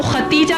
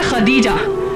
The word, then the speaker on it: خدیجہ: ہم عام طور پر ان کو ختیجہ کہتے ہیں، دراصل نام ہے خدیجہ جس کے ہجے ہیں